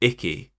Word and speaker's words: Iki: In English, Iki actually kept the name, but they pronounce it Icky. Why? I don't know. I thought for sure that they would have changed his name because it sounds like Icky.